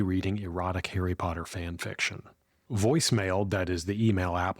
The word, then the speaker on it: Voisemail: It's called voicemail, but of course it's spelled funny.